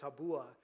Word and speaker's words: tabua: and they pronounced it tabua and with the the emphasis on the second syllable and these are items